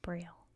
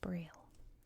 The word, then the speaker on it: Braille: and very humble servant Braille should probably say in French it's like pu not braille it's how you say it in English but anyway a moment